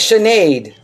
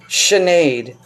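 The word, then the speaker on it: Sinéad: Shenade. Okay. Thank Shenade. I've I've said it wrong all these years. Chenade.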